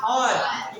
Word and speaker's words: hour: आर spelling के अंदर लिखा हुआ क्या है, HOUR, लेकिन इसका उच्चारण क्या है, आर।